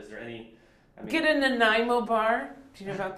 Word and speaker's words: Nanaimo: N-A-N-A-I-M-O, Nanaimo, after the island, Nanaimo.